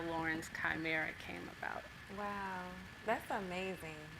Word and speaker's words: Lauren's Chimera: Did I pronounce that right? Lauren's Chimera, yes.